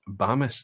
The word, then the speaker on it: Bemis: Okay, short A sound. Bemis doesn't rhyme with famous. Okay, it's Bamis then.